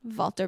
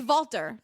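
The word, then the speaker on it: Valter: Walter Biscotti. He's Walter, not Walter. It's spelled with a V.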